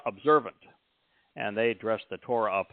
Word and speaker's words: Torah: But when they say Torah, they're pronouncing the wah sound, because Torah has a wah in it, and it creates the O sound.